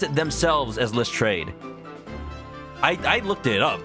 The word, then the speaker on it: Lestrade: has french heritage like they've adopted the different pronunciation because they're pretty much just english at this point so they pronounce it themselves as list trade i i looked it